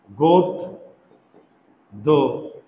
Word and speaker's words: গদ্য: তাহলে এটার উচ্চারণ কি? গোদ দো।